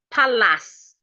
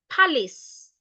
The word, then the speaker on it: palace: So we don't say palace, we say palace.